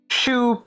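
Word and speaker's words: choux: talked about this yes Sho so it's shoe pastry yes okay we already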